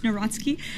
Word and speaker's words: Karol Nawrocki: He met with Karol Nawrocki, if I'm pronouncing that correctly. Yes, Nawrocki.